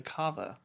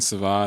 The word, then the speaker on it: Cava: and I was like what you mean Sava and they're like no it's pronounced Cava and you argued you